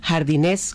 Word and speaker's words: jardinés: esta exposición se titula jardinés colgantes con acento en la e al pronunciarlo hay una sonoridad intencionada con este juego de